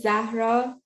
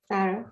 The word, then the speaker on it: Zahra: I'm you know my my name is Zahra in the the original pronunciation but well in Spain we do not pronounce Zed and H so it will be Sarah you pronounce it quite